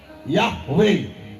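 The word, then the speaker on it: יהוה: याहवे। यॉड हे वाव हे, यॉड हे वाव हे, याहवे। ਉਹਨੂੰ याहवे नाम pronounce करते सन।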